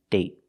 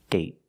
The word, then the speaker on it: date: other example day day and date date so with date we see the vow is shorter because you have a stop D at the end I got bored one